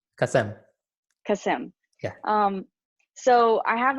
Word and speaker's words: Kasem: Hey, did I say Kasem? Kasem? Kasem. Tell me how to say it. Kasem.